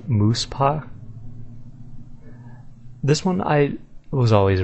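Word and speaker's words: Muspah: Muspha is pronounced Moose-pa.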